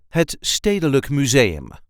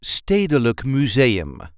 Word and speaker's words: Het Stedelijk Museum: Municipal Museum of Amsterdam, Het Stedelijk Museum. This is the way we say Het Stedelijk Museum. Stedelijk Museum. So there isn't really any emphasis here, just pronounce it as a whole.